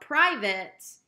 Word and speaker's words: private: locate dedicate relate plate but private even though it has that same spelling it does not rhyme with the other words okay number six considerate